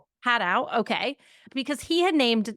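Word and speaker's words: Hadow: Haydowl. We pronounce it Hatau. Hatow.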